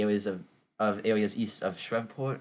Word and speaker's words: Shreveport: And as far north as maybe areas of areas east of Shreveport, I think that's how you pronounce it. Yeah, Shreveport. Yeah, you got it right.